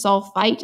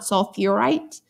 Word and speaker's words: sulfite: Okay, so if we think about this sulfite, it's not sulfurite. Okay, so think about what you're most familiar. If it sounds wrong in your gut, might have an extra syllable in there.